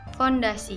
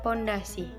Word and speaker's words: fondasi: dalam penulisan dan pengucapannya yang pertama fondasi Ayo kita biasanya sering mengucapkannya dengan kata pondasi arti dari kata pondasi